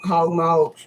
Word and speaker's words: hog maws: come like this and they literally say well we always pronounce them hog mogs so and nobody ever